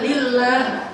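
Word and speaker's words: لله: Bukan Allah kalau gitu bacanya, lillah. Kalau Allah kan ada alifnya, ini tidak ada alifnya, lam ha bacanya apa? Lillah, dia bilang Allah.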